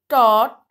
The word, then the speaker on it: taught: Cot, bought, taught, fought. इसमें बेटा GH silent है ना? GH की साउंड नहीं आ रही है. So we will pronunciate it like caught, bought, taught, fought.